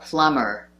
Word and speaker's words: plumber: It's not plumber, but plumber. The B is silent.